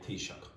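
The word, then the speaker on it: Taoiseach: Tea. Like a cup of tea and shock. Okay. And this is what we call the prime minister in Ireland. We do not say prime minister, we say tisha.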